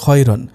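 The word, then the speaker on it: خيرًا: যেহেতু র জবর র খ জবর খ। সুতরাং উচ্চারণ হবে খয়রন।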